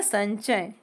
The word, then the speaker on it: संचय: इसको न बोलते हैं। तो यहां आया संचय। ये पूरा ञ ऐसा नहीं है। अ और न सुनेगा आपको संचय।